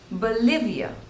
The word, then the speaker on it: Bolivia: Belgium Belgium next is Bolivia Bolivia again there are three syllables and the stress is on the second syllable Bolivia Bolivia Bolivia Bolivia